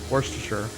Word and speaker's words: Worcestershire: I don't know how to pronounce it I'll pronounce it for real what are other words yeah say for real Worcestershire really are you sure that's right yeah that's